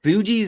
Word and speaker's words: Fugees: Fugees is how you say.